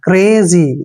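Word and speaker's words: crazy: जब भी सी के बाद कोई कॉन्सोनेंट आता है तो सी का उच्चारण कै करते हैं। सी को पढ़ेंगे कै, और आर को रे, ए को ए की मात्रा, और जेड को पढ़ेंगे जे, और वाई को पढ़ेंगे ई की मात्रा।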